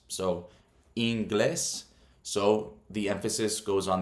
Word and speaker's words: inglés: It's not pronounced inglés, it's pronounced inglés. So the emphasis is on the second syllable, the E.